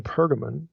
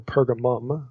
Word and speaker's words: Pergamon: a place specifically in pergamon or pergamum okay you can you see it pronounced either way and spelled either way in verse 13 so